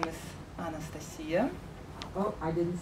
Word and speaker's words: Anastasiya: So my name is Anastasiya. Oh, I didn't say it right. Almost right. Anastasiya is okay. I was close. Yeah, that was really close. So Anastasiya, and if you're thinking, what did you say?